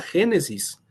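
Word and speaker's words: Γένεσις: Curiosamente, en griego, pero con letras griegas, claro está, también se pronuncia Génesis. Igual, Génesis.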